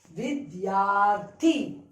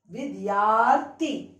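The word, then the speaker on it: विद्यार्थी: Now you pronounce it Vidyarthi. Vidyarthi.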